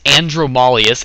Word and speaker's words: Andromalius: as it is um a lot of people don't know how to pronounce the name it is andromalius and the reason it